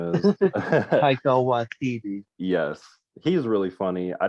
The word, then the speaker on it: Waititi: The director, Wakiki, or whatever his name is. Taika Waititi.